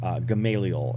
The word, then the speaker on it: Gamaliel: of the apostle paul gamaliel is how we pronounce it in in english in in christianity so rabbi hillel has